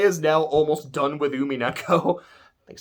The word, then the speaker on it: Umineko: Oh, one tiny last thing is Clay is now almost done with Umineko. I think I said I think I almost made it sound like it was UME with the way I pronounced it.